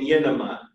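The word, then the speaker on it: γίνομαι: And in Greek, the two most common are the verbs imi and yenemi.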